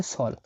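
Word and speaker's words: соль: দেখুন এটা এস, এটা ও, আর এটা এল, আর এই অক্ষরটাকে বারবার বলছি আমি, শুধু এই বি এর মতো হলে এটা উচ্চারণ হয় না। এটা একটা সাইন। এটা এটা যে অক্ষরে পিছিয়ে থাকে সে অক্ষরকে এটা কোমল করে, এটাকে বলা হয় কোমল সাইন বা সফট সাইন।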